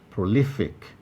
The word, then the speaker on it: prolific: stress 14 prolific prolific prolific has three syllables pro lee thick you'll find that option b where lee is highlighted it is the place that receives the greater emphasis and therefore it is the place to deploy primary stress 15 gymnastic gymnastic this